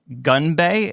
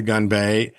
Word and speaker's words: Gunbae: The Korean restaurant Gunbae, did I pronounce that correctly? Yes. Okay. Gunbae.